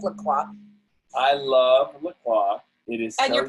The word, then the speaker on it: La Croix: I love La Croix. It is and you're pronouncing it the right.